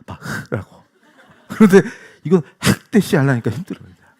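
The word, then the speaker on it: Bach: 그래서 그 독일 말은 흐를 잘해야 돼. 이거. 그래서 바하가 아니라 바흐라고.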